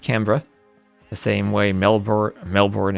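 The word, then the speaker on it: Canberra: uh been told by many Aussies it's not pronounced Cber the way it might look. It's pronounced Cra the same way Melbour Melbourne is pronounced Melbourne.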